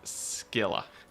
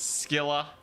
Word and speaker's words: Scylla: In Hades 2, one of the bosses is named Scylla. They pronounce it Scylla. In Warhammer, it's Scylla. Can we get sirens?